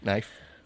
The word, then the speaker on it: knife: say hey in ife knife but the k is there yeah but you don't pronounce it i have a speech